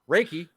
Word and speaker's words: Reki: So Reiki, Reki. Reiki, yeah, Wreck-It It rhymes Ralph.